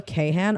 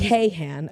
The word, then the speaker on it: Kahan: Noah Kahan, are you okay? Sorry, it says Kahan. If it was Khan, it'd be Kahn. Like everybody knows Khan.